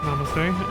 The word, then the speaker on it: namaste: Religious and secular culture come together in the increasing use of namaste, pronounced namaste.